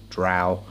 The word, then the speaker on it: drow: in the Underdark neo drow or dro however you want to pronounce it that's it drow so if it frustrates